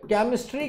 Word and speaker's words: chemistry: तो जब मैंने कहा ये वाला चैंपियन तो चा साउंड आ गई भैया, शैंपेन शा साउंड आ गई, ठीक है, केमिस्ट्री का साउंड आ गई, और ये क्या है, शैमिस।